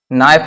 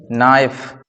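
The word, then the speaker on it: knife: इन्होंने पूछ लिया है नाइफ में कौन सा अक्षर मुख है मतलब साइलेंट है तो यहां पर देखो जब अपन पढ़ते हैं नाइफ को यह हमारा नाइफ है जब इसको हम पढ़ेंगे तो क्या पढ़ते हैं नाइफ इस प्रकार से पढ़ते हैं के का कोई उच्चारण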